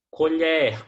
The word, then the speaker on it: colher: Colher com o aberto, substantivo. A colher está sobre a mesa. Já o colher pronunciado com o O fechado é verbo.